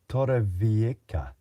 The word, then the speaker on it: Torrevieja: The J is now pronounced as a K. Torrevieja.